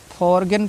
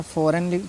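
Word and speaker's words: foreign: रखना है ठीक है इसको नहीं जी का उच्चारण नहीं करना है आपको क्यों क्योंकि एन से पहले आया हुआ है ठीक है अब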